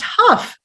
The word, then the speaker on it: Hough: name correctly is that it is pronounced Huff thank you for asking